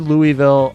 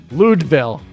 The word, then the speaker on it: Louisville: But like I said, I've heard Louisville a ton. In like Eastern Seaboard, we'll say Louisville a lot. Ludeville. That's how they should start saying it. Ludeville. You are saying it right.